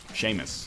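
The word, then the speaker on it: Seamus: you're a muse yes there is C muse Sheamus is how that's pronounced Oh Sheamus right man courtesy of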